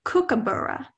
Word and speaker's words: kookaburra: I saying it correctly it's actually kookaburra kookaburra am I saying